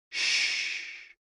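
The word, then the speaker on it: xu: the six sounds are X U pronounced like shh with a deep sigh which is associated with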